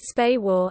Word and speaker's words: SPAWAR: SPAWAR, pronounced SPAWAR, and its systems centers provide much of the